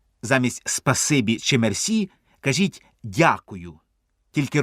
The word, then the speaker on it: дякую: Спасибі чи мерсі кажіть дякую тільки Робіть наголос не на я а на у Дякую дуже ефектне слово